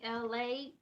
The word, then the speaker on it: ELAY: It's me, LA, ELAY, pronounced like LA, like the city.